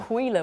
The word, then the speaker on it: Aquila: Aquila we went for.